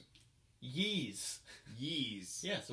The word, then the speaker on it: Ys: Yeez. Yeez. Yeah, so Like it's Yeez. Yeezys. Yeah, but without all that. So it's Yeez.